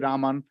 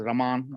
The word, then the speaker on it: Raman: It's our own CV Raman. So often mispronounced as Raman.